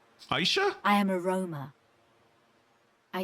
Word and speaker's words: Aishe: I've been pronouncing that wrong for years. I always thought her name was Ash. Aishe? Okay, fuck. Years, I've never pronounced her name right.